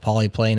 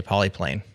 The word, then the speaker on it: Polypane: right way but like poly is Greek so you could also use the Greek pronunciation so you could say